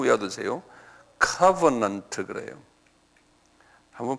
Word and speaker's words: covenant: covenant 그래요. 한번 발음해 보실래요? 액센트가 앞에 있어요. covenant.